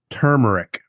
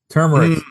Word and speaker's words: turmeric: Turmeric. Turmeric. Yeah. Good one. Good one. Yeah. Although that one is that one's more subtle. But most people don't pronounce the R.